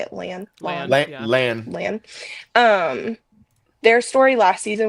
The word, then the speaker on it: Lan: Lan.